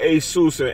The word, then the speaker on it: Asus: a sus it's the the one that I'm talking about is Asus that's the actually main way to say it is called Asus it's like that's how you name it it's a sus that's how you say it so God is